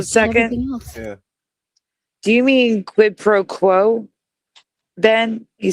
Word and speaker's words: quid pro quo: Do you mean quid pro quo? Then he says what is quid qua bono? You mean quid pro quo quid pro quo.